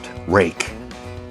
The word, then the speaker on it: Ruike: That is pronounced Rake.